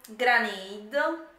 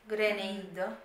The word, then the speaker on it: Grenade: Granata. Granata. Granata. Si pronuncia gre grenade.